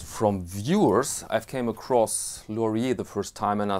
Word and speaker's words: Lorier: a good find and my pronunciation of laurier is french which is correct despite the fact that